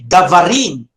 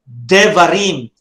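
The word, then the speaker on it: דברים: You will not say davarim, no, but you will say devarim.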